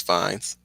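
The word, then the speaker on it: Fiennes: for uh president Shinra Ray fines is that how you pronounce his name or fi or I think it's fines he played Voldemort and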